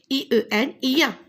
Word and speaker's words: chien: Alors regardez ici, C-H-E-I-E-N, ien. Je dis ien.